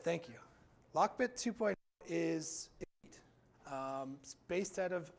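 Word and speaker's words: LockBit: them at a bad time this was a locker bit version two account so this this is basically the top sophisticated ransomware group in the country i may have the name wrong um lock bit thank you lock bit 2.0 is based out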